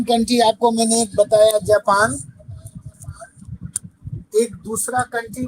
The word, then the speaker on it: Japon: जापान को बोलते हैं जापों, जापान। JAPON, जापों। Okay sir. APON, जापू।